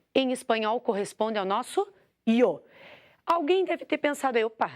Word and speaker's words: yo: Quando você estiver na Espanha, a maior parte da Espanha, o Y, que o yo é YO, ele vai ser pronunciado como I. O Y é pronunciado como I. Aqui na América, na maioria da América, ele é pronunciado como J.